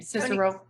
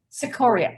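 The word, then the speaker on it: Cicoria: not sure how to say his last name cicero sequoia sequoia there we go there we go he and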